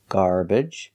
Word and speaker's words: garbage: I I garbage garbage so three pronunciations are correct when the syllable is not stressed you can pronounce it with the uh the e or the I sound garbage garbage and garbage all three are correct example salad again the